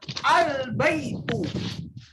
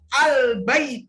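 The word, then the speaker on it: البيتُ: berarti kita bacanya bye pun ketika kita Mengawali dengan huruf alif lam maka kita bacanya albaitu albaitu albaitu albaitu artinya rumah ya akhirnya kau rumah ya rumah sebuah rumah albaitu tapinya bunga haram hukumnya dibaca albay pun tidak boleh dibaca tidak boleh Iya dibaca al-baik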